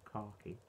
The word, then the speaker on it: khaki: And the beer poured with a slight sort of khaki looking head, or khaki. I'd say it properly, not the stupid Americanized way.